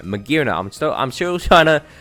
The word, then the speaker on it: Magearna: out to imaginary next magearna not maganera magearna i'm still i'm sure